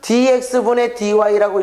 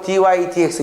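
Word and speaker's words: dy/dx: 이 dy dx 또는 dx분의 dy라고 읽어도 되지만 선생은 앞으로 dy dx 이렇게 부를 거야.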